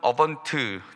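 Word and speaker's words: Advent: 라틴어로는 어번트, D자 묵음이라고도 하는데요, 단어를 사용하는데 도래, 출현, 도착을 의미합니다.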